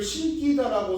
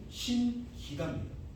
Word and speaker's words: 신기다: 저 친구를 신기다라고 써가지고 틀린 애만 보평고에서만 98명 정도가 됐었고요. 중앙고에서 140명 나가게 했었어요. 신기다라 써가지고 바로 3점 날아갔죠. 헐? 미치냐? 발음하면 신기다 아니냐 이거야. 근데 발음은 신기다입니다. 된소리 쓰시면 안 돼요.